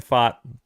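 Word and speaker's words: Pfaadt: so I was like it just kind of sounds like a fart in it that's how it's spelled PFA a DT it sounds like he farted um so Brandon fought he's gonna be the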